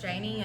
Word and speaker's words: Janie: No, I had to go to Y'all should tag each other in each other's Facebook posts, Janie and Catherine.